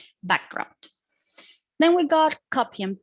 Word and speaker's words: background: Then we got background, which is a compound noun. The tendency also is to be accented or stressed on the first syllable, the first part of the word. In this case, it would be background.